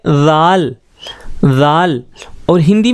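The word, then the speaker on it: رے: रे, इसका प्रोनाउंसिएशन होगा रे, और हिंदी में इसके लिए जो अक्षर प्रयोग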